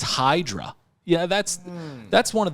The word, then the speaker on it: Hydra: that was like so like Sandy calls it idra it's idra I mean who pronounces h y d a r idra it's Hydra yeah that's that's one of the most badass